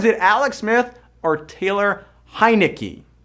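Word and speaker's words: Heinicke: Now, is it Alex Smith or Taylor Heineke? Heineke. I know you got to think Heineken and just go Heineke to say his name right.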